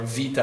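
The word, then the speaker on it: Βήτα: Greek Alpha Beta right or Vita as it's pronounced in Greek but alphabet Alpha Beta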